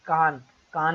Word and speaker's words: Cannes: IFFI awards बहुत important होते हैं, जैसे फॉर एग्जांपल कान अवार्ड्स होते हैं ना फ्रांस के। एक्चुअली स्पेलिंग उसकी होती है कान्स, CANNES, बट इसको प्रोनाउंस किया जाता है कान फिल्म फेस्टिवल भी बहुत इंपॉर्टेंट होता है।